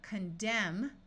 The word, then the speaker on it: condemn: Here we have condemn with a silent N, but when we add the letter A and the suffix shun, it becomes condemnation, where the N sound is clearly heard.